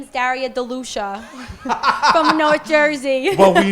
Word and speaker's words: De Lucia: tongue you know but remember what alex corado said de lucia i know which is probably the proper it is the proper